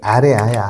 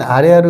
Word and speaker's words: 아래아: 얘 명칭은 아래아야, 아래아. 아래아가 아니라 아래아. 소리는 아와 아와 오의 중간 발음이야. 아면하고 우리가 으면 으고, 아면하고 오면 오잖아요. 근데 아으 아니면 아우 이 정도 되는 거야.